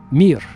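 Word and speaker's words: мир: In Russian, it's the the word mir. M I just three letters. Mir just like the space station. Remember the Soviet space station called mir.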